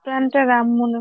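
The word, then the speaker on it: Plantarum: এ আর ইউ এম উচ্চারণটা কি প্লান্টেরাম না প্লান্টার রুম স্যার প্লান্টেরাম মনে হচ্ছে প্লান্টেরাম স্পেসিস প্লান্টেরাম অর্থাৎ এই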